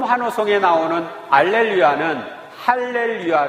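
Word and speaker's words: Hallelujah: 화 노소 복음 하루 속에 나오는 알렌 위하는 할렐루야 를 의미합니다 할렐루야 는 히브리어 하로 힐 외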